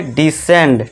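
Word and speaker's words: descend: यदि ई और आई से पहले ये थोड़ा ध्यान देना है, और एस के बाद सी हो तो सी साइलेंट होगा।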